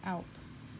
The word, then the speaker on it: Alp: So scalp rhymes with Alp.